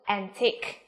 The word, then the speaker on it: antique: Và từ thứ ba nào, đồ cổ chúng ta có từ antique, được chưa nào, antique.